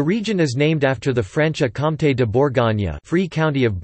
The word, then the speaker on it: Franche-Comté: Franche-Comté, French pronunciation, FKT, literally, free county.